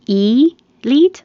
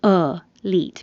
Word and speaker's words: elite: This can be elite or elite because the E is not stressed.